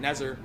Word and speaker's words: NZR: doing a show called, it was NZR, we pronounced it Nezer.